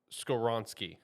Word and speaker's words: Skoronski: Skoronsky, I think is what it is. Yeah, Yep. Skoron. Yep, Yeah, that Skoronski.